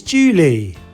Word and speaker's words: Juli: very easy to remember July is Julie a bit like the girl's name Julie Julie Julie the Indonesian